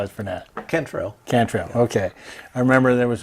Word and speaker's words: Cantrell: us today a photographer veteran Navy veteran can throw and did I pronounce it right yeah that's close there is a close I've been called worse well tell me how is the net Kentrell Cantrell okay I remember there was all the in